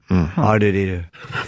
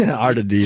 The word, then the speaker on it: R2-D2: R2-D2 is actually the proper way to pronounce it in the books. So we've been saying it wrong this whole time? Yeah. Ardadita. Yes, Ardadita. Supposed to be a noise.